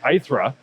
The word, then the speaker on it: Airthre: It's like, how do you pronounce it? Eyra. Ira.